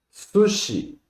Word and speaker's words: sushi: Sushi. Son dos sílabas. Su, shi. Sushi.